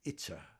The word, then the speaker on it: Ica: There was a young girl named, we called her Itza, I-C-A, we pronounce it Itza.